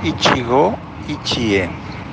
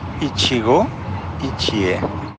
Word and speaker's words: Ichigo Ichie: La pronunciación es tal como se escribe. Ichigo Ichie. Repito. Ichigo Ichie.